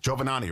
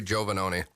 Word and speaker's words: Giovannoni: Jovonani, right? It's close. My name is Jovenoni.